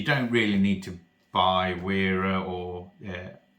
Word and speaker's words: Wera: really need to buy wearer or I'm pronouncing it as wearer I know some people say Vera or whatever but for this video's